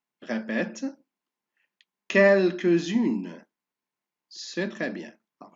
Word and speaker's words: quelques-unes: Le mot suivant, le dernier mot, quelques-unes. Répète, quelques-unes. C'est très bien. Alors, je fais la liaison et je fais attention à la lettre S se prononce Z.